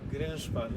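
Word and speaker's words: Grynszpan: It's a Polish name, so I'm probably going to butcher the pronunciation, but it's Herschel Grinspan, unless you want to correct me. Grinspan, yeah, that's Grinspan, correct.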